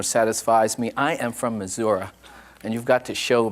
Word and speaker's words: Missouri: years ago uh a congressman from the midwest missouri which is a proper pronunciation uh who after hearing uh a previous